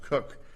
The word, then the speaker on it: Koch: It said the cases we relied upon in Cook, and I understand that KOCH is pronounced Cook, did not address a